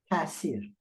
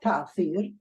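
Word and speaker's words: تأثیر: Tasir. Well, it is not ta'thir, it's tasir. It's really an aleph.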